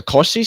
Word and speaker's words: Cauchy: Cauchy, Cauchy. Oh, that's how you pronounce that? Yeah, he's French.